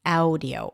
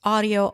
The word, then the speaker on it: audio: It's not audio. It's not aful. It's not low. It's audio awful and law.